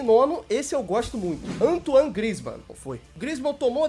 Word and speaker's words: Antoine: Em nono, o francês Anthony Griezmann. Pô, pera aí, tem que saber pronunciar o nome dele certinho. Antoine Griezmann. Em nono, esse eu gosto muito. Antoine Griezmann.